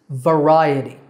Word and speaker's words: variety: It's variety. V-R-I-A-T, with the stress on the second syllable, ri.